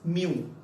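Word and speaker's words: μ: इट is pronounced as म्यू, MU.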